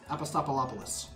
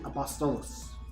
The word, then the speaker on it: Apostolos: uh apostle okay well i am gonna butcher this name every time i say it apostolos or as i continuously seem to pronounce it very some ways apostopalopolis or something but it's actually apostolos which from what i learned from some of our community members is that it is a greek name very interesting little tidbit